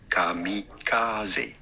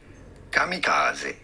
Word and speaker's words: kamikaze: Kamikaze. Kamikaze. He used two different pitch accents, so he changed it. The first time he said kamikaze, which is incorrect. That's not the right pitch accent.